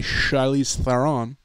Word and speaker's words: Charlize Theron: And they're kind of like a superhero squad led by Charlize Theron. I believe is the proper pronunciation.